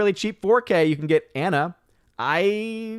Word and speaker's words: 4K: jacqueline suave says wait it's pronounced 4k all this time i've been saying fork face palm part of